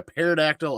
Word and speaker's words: pterodactyl: can't you hear a pterodactyl or pterodactyl go to the bathroom because the pee is silent it's only but a